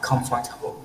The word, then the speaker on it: comfortable: Quite comfortable. No, đừng đọc là comfortable.